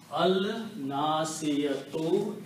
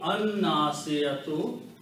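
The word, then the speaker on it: الناصية: So it becomes Al Nasiyatu. And in the pronunciation, it will be An Nasiyatu.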